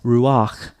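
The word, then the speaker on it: רוּחַ: and that's the case here that's why it's ruak not R because the vow comes before for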